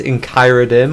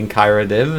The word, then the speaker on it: Enchiradim: It is Enchiradim, or it's meant to be Enchiradim, at least through my eyes.